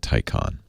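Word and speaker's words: Taycan: until September Porsches first the Tyco on ta Y CA n they Porsche wants you to pronounce it Tyco on and this has been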